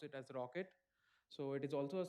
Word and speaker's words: rkt: a one more runtime called rkt or we pronounce it as rocket so it is also a similar kind of